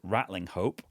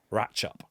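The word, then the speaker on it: Ratlinghope: It's in a place that I thought was called Rattling Hope, but we had a message from newscaster David who lives there and says it's actually pronounced ratchup even though it is written for a really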